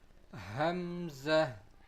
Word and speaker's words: Hamza: It is pronounced also from the lowest part of our throat. Hamza.